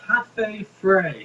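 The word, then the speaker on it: Cafe Frei: It's called Cafe Frey.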